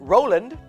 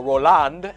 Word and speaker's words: Roland: about who Zach was Roland or Roland Accent on the second syllable please Roland became of course